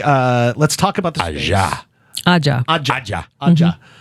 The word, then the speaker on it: Ajja: Ajja. Ajja. Ajja. It's a firm J sound. Yes. Ajja. 2 J's.